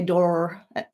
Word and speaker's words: door: These two rhyme together in English, especially if you speak with a British accent or my kind of accent, an Australian accent, because we don't pronounce the R strongly. Americans might say door. I can't do it, but they'll say the R more strongly.